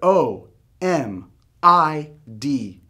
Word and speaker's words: Omid: a normal word a normal person instantly but o m i d gets butchered shortened or stretched it becomes a oh